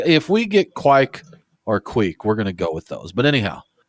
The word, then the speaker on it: kveik: It is spelled, like if you're pronouncing it in English, you would think it was kveik. It's Kveik. Now, David, I believe you said you pronounce it like queek, correct? Yeah, so basically I threw it through the translation. So I believe it's queek.